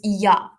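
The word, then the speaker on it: ja: In Africans, J is pronounced as a Y. So it's Yah.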